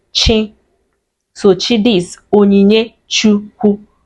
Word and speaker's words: chi: So it's just chi the ch and is pronounced chi.